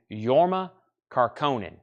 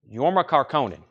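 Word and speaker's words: Jorma Kaukonen: Heaven this is $4.99 yorma car conen yorma caronan yorma caronan and that's spelled very crazily over here on the spine yorma caronan which is j o r m a k a u k a o n n wow Al Stewart last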